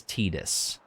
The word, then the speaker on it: Tidus: out pretty damn quick this is the name supposed to be a pun word is tight ass so i his actual pronunciation is tidus but i've always pronounced